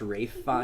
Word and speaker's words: Ralph Fiennes: Yo, didn't we find out the other day that his name is actually pronounced Rafe Fiennes?